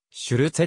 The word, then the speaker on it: シュルツェ: して生まれたドイツ語ではシュルツェと発音されたシュルツはペンシルベニア